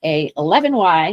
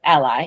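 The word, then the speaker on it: a11y: It's always pronounced A1 Y instead of ally even though it looks like the word ally because ally means something different.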